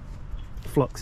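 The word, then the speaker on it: phlox: I bought um the These are nice um flux is spelled p-h-l-o-x these are nice um I've got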